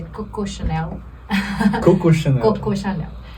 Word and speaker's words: Coco Chanel: na Coco Chanel, que todo mundo fala Coco Chanel, mas é a pronúncia errada, em francês é Coco Chanel.